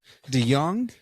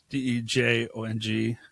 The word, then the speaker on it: DeJong: to DeYoung. Yeah. The DeYoung. DEJONG. The DeYoung. J makes a Y sound Do people mispronounce that all the time?